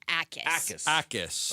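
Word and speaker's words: Jacas: Is it is it Hackis or Ais? The J is silent. Ais.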